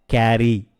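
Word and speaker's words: carry: எடுத்துக்கொண்டு போ கேரி கேரி இங்க ரெண்டு ஆர் வருது அதனால கேரி அப்படின்னு நம்ம அழுத்த வேண்டியதில்ல கேரி யூகம் செய் அஸ்யூம் அஸ்யூம்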